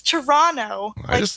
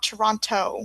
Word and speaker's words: Toronto: It's Toronto. You don't pronounce it. It's not Toronto.